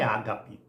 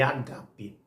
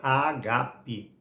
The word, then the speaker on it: agape: pronuncia Ágape abrindo parênteses a palavra não é Ágape é agape a palavra grega é agape um amor sacrifical um